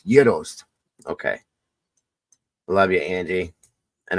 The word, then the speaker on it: gyros: passed away when I used to say Gyros she used to get so pissed off at me she would hold my face and say say it like this Joe Yos it's Yos okay love you Angie